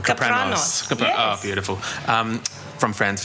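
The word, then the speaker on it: Kapranos: I know that you recorded with Alex, I'm going to mispronounce his last name, Capranos.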